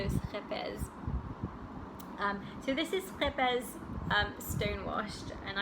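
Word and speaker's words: Scheepjes: So it's the Dutch yarn that, my understanding of how to pronounce this is that it's schepes. If you're Dutch and I pronounced it wrong, please let me know. But I understand it's a ch, so schepes.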